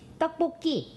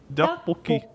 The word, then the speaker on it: 떡볶이: But we pronounce this 떡볶이. Dokboki.